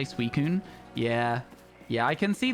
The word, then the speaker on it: Suicune: You used to call it Susin until you heard people say Suicune.